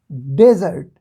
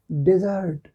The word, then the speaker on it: desert: डेजर्ट means रेगिस्तान, ठीक है, मरुभूमि, और इसको हम प्रोनाउंस करते हैं डेजर्ट, डेजर्ट। ओके, और यह है DESERT, बिल्कुल वही स्पेलिंग है लेकिन प्रोनाउंस करने का तरीका थोड़ा अलग हो जाता है। इसको बोलते हैं डिज़र्ट।